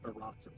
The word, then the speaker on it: Iratus: But the correct pronunciation of it, like in Latin, is Aratus.